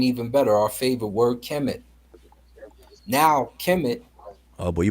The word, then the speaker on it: Kemet: don't think so it's now pronouncing Coptic Kami what happened to the te it changed over time it morphed so we know it morphed U knows it morphed now you guys know it morphed because it's no longer there when you pronounce it in the final form of Coptic which is the final form of Egyptian it's Kami now as opposed to Kim